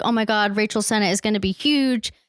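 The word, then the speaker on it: Sennott: friends IO and Rachel it's Senate damn it I knew I said it wrong Rachel Senate and IO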